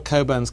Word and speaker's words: Cockburn: but uh but all coburns carry this Mission through life is your name is spelled cockburn but you pronounce it Coburn um and there are